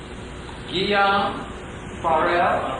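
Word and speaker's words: Guillaume Farel: Guillaume Farrell. I can only regard it as well, but I got Guillaume Farrell. Saving me from the jaws. Well, never. Okay, go ahead. But Guillaume Farrell forced me to stay in Geneva, not so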